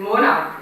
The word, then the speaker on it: monarch: So spelling bound correspondence, the sounds of letters, if you say CH in monarch, it's pronounced as sounding k, but in arch it is CH, which is ch.